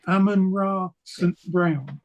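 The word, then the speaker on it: Amon-Ra St. Brown: um Ammon I can never say his name Ammon ra St Brown that's it and I used to be a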